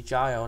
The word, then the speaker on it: child: Nhớ nha, cái chỗ này đó là chữ child đó, thì chữ I nó đọc là, nó là long I, đọc là I.